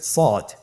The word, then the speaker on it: صاد: শুরুতে আমরা শুরু করছি সদ। সদ হরফটি পুর হরফ, মোটা হরফ, উচ্চারণের ক্ষেত্রে মোটা করে পড়তে হবে এবং উচ্চারণ করার সময় 3 আলিফ টেনে পড়তে হবে।